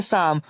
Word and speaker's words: psalm: Silent होगा। तब यहाँ हम इसे क्या पढ़ेंगे? शाम।